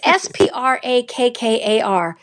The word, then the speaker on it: Sprakkar: We talked about her new book, and I can Sprakkar. It took us a while to figure out how to say it. It's Sprakkar, and it's Iceland's extraordinary women and how they are changing the world.